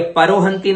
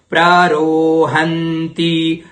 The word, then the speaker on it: प्ररोहन्ति: ये परोहंती नहीं है, बहुत से प बोलते हैं इसको, लेकिन यहां पर प्र का उच्चारण करना है, प्ररोहंती परुख, यहां पर बोलते